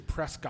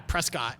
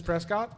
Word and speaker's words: Prescott: right yeah pres presc if you're a real Nob you say Prescott yeah Prescott apparently that's not right yeah yeah actually uh Jared used to work there now lives here uh he says Prescott no he says Prescot